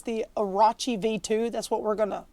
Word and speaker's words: Orochi: at the new razer i guess they want to pronounce it arachi anyway it's the arachi v2 that's what we're